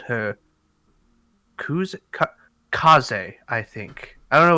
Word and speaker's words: Kaze: you uh spelled kuze for me uh k-a-z kaze he was like trying to remember so he